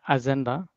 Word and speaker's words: Agenda: okay, agenda. No, it's not J, it's G, right? You say gay, right?